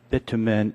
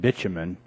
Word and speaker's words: bitumen: Markey leaves, we've been debating pronunciations of bitumen and bitumen. So we did additional research, Mr. Markey. And if you go on the online Oxford edition, unfortunately, we're both correct, because they'll have a pronunciation of the words. And I take the English version, and you take the American.